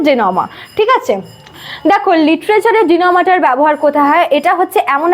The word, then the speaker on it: denouement: আজকের টপিক হচ্ছে জেনোমা হয়তো উচ্চারণের সাথে স্পেলিংটার কোন মিল নেই এটা মানে এমনি পড়তে গেলে ডিনোমেন্ট এমন উচ্চারণ হয় বাট